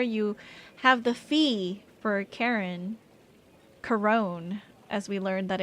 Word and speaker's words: Charon: Um I guess Charon is technically the correct way, so it's hard to change, though.